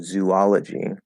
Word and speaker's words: zoology: elephants please sit down um yeah zoology uh zoologist because it's like right biology biologist um archaeologist archaeology right it tends to have something there um so it's not it's not zuwa or it's not zoology ah with the fifth vowel so zoology zoologist